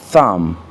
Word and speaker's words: thumb: La lettre B n'est pas prononcée dans certains mots, surtout lorsqu'elle est précédée